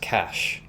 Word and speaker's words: cache: I could have sworn it was just pronounced cache.